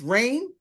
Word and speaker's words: Rain: pronounced correctly I think it's rain it is like rain and King and power